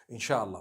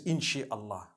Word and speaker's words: inshallah: in means to create no one says inshi Allah they say insha Allah that's what it